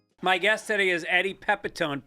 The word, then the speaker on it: Pepitone: My guest today is Eddie Pepetone. Pronounced Pep like he's got a lot of energy and tone like you're not really sure what he's going for tonally.